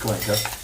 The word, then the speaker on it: Cuenca: I think it's pronounced Cuenca, but you say it's Cuenca. Cuenca. Yeah, so it's pronounced Cuenca, which is a lovely city up in somewhere up in the hills of Ecuador.